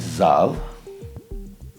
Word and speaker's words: Zahl: is the cell am one I think the pronunciation itself uh I always call it zal but anyways a console made in Germany aimed